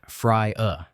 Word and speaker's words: Fria: When he was around 3 or four, he started talking to someone he called Fria, pronounced Fry uh he described Fria as a dark-skinned man who wore very little clothing and loved to hunt in the wilderness.